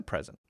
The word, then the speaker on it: present: meal so that's a present um so this pre pre very clearly pre to let us know it's a noun now if it's an